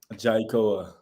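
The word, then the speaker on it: Jai'koa: right how do you say your full name jaikoa okay yeah didn't you just go by jai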